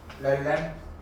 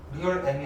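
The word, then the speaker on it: realm: 또 렐렘. 리얼 M이 아니고 렐렘이라고 읽으시죠.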